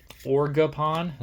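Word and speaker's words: Ogerpon: Orgapon? Is that how you say it? It's almost like Oregon, but you add a P in there.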